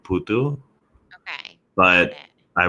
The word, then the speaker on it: Putu: Um, can you pronounce what is it? Putu? Yeah, that's it. Putu.